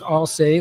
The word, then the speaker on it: ALSAE: And it's pronounced all say, like we all say.